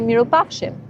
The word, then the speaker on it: mirupafshim: And if you're going to say goodbye and you're seeing someone again, you say mirupafshim, which in Albanian it means I hope that I will see you good.